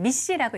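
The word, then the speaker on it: MECE: 그래서 MEC인데요. 읽을 때는 미시라고 읽으시면 돼요.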